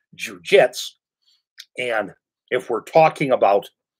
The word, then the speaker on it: jujutsu: comes in we all know about supposedly as pronounced jujitsu correctly it's pronounced jujitsu and if we're talking about old style jets